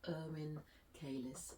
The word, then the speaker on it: Erwin Keiles: with Esther and with me today I have Inn kis Inn kis have I pronounced your name correctly correct yes sometimes I